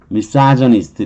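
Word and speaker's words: misogynist: 그래서 미사저니스트, 여기 약한 발음은 미사저니스트 이렇게 발음을 하는 거예요.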